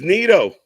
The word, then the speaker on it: Naito: It's Nito. We're not even 10 minutes in, and you're trying to just trigger me with mispronouncing Japanese wrestling names. It's Nito. Let's go. It wouldn't be Nito if it's Naito.